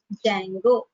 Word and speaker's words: Django: module called as what Django D is silent if you write the